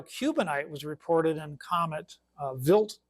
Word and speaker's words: Wild: when the material Cubanite was reported in comet Vilt 2. And it's pronounc it's it's spelled V wild to WLD, but it's pronounced Vilt and uh it's named after a Swiss astronomer named Paul Vilt and he discovered this comet in 1978.